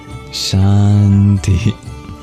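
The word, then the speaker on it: शान्ति: of Sanskrit transliteration so some pointers is that that s has an accent that is an sh sound just like in English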